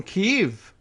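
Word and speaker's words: Kyiv: it's a picture from keeve remember that's how we now pronounce Kiev right Kiev in 2014 when you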